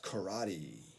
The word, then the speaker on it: karate: Let's go to karaoke.、number five is karate. Karate.